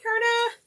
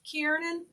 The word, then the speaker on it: Kiernan: Hey, Kerna. Yay, you're going to be in there. Oh, I was going to say your name wrong. Kiernan.